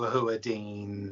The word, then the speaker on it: Hewerdine: It's Boo Hewerdine.